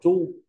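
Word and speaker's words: 猪: cẩu với cả Khuyển con lợn đọc là tru tru với là con lợn tru ba chia đấy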